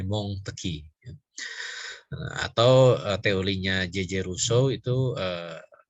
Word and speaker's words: Montesquieu: yudikatif itu teorinya Montesquieu ada orang Perancis bacanya Bong teki atau teorinya Jejer usai